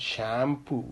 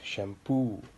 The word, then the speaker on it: shampoo: Okay, and then words which end with ee or oo, these ee and oo are pronounced more, like guarantee. It's not guarantee, it's guarantee. Shampoo, it's not shampoo, it's shampoo.